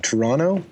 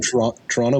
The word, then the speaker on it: Toronto: Toronto. We say this. The second T is for tourists. Oh, so anyone who's not from Toronto but lives here, they pronounce it Toronto, and then you can immediately tell.